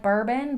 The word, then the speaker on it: Bourbon: It's spelled like bourbon, but it's pronounced more like Bourbon.